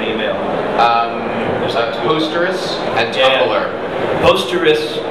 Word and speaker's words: Posterous: you create an email um posterus and tumer posterous it's spelled like p o s t e r